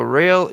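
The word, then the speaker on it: Roehl: Yeah, he's he's saying about inter modal, but it's pronounced rail, but it's spelled R O E H L. I understand what I got you now, Rick. Thanks. Company out of Wisconsin land. Real, there you got it.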